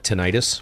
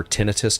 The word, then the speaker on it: tinnitus: No, for me, I've got tinnitus or tinnitus, depending on how you wish to pronounce it.